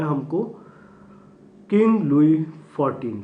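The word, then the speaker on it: Louis: इसका pronunciation लुइस मत करिएगा, लिखा हुआ है लेकिन इसका प्रोनाउंसिएशन लुई होगा।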